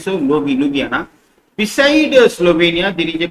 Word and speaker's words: Ljubljana: See that Slovenia was now enlarged here, and Slovenia capital is Ljubljana. The letter J is silent here. See that J is there. The J's are silent. So Ljubljana.